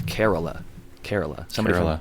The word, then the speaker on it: Kerala: one strain like um I finally learned the pronunciation after one of my listeners on our podcast corrected me I was calling it carala but it's k e r a l a and it's carala carala somebody from carala India messaged me and